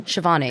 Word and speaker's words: Shivani: How do I pronounce your name? Shivani.